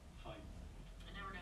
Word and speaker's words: Fiennes: Fine. I never know how to pronounce it.